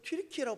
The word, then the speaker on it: 튀르키예: 지금은 튀르키예라고 발음합니다.